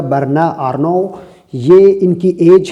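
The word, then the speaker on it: Bernard Arnault: से इनका तालुक है वर्ण और नौ ये फ़्रेंच में इस तरह से इसको प्रोनाउंस किया जाएगा वर्ण रनो यह इनकी आगे है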